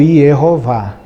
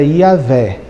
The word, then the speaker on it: Iavé: judeus passaram a adotar a pronúncia do tetra grama como e rova entendendo que na verdade a pronúncia mais original seria iavé mas pra não utilizar